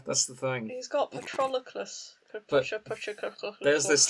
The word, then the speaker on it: Patroclus: And Patrolus, however you pronounce it. Patrolus. Well, what is his actual name? It's considering I can't pronounce it. Patroclus.